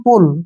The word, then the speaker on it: पुल: यहां पर लिखा है पी यू डबल एल इसको पढ़ते हैं हम पुल क्या पढ़ते हैं पुल अब यहां पर डिफरेंस